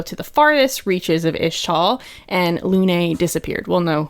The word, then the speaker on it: Ixtal: a normal boy in ishtal it's pronounced ishtal right like ish yeah it's tall but we don't say the X right yeah I think